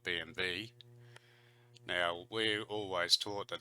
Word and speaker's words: BMW: every night BMW B because the W in German to V so they probably call it BMV now we're always taught